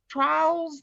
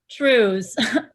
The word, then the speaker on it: Trousdale: brentwood and um true trials trowels trousdale am i saying it right it's trues not trials okay okay then okay i've